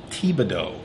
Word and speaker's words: Thibodeau: They have an assistant coach by the name, I think his name is Tom Thibodeau. Sounds right. The last name. Good job on the pronunciation.